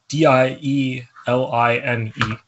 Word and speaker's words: dieline: want to pronounce it it's called either line or d-line I don't know d-i-e-l-i-n-e so I guess dieline Awards um which is